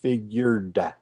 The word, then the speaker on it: figured: at the end and you need to say figured yeah this is this